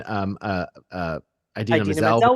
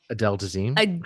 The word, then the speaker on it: Idina Menzel: all of the development and everything back when Idina Menzel was in it. Yeah. No, that's not her name. You've What? said it wrong. Adele Dazeem.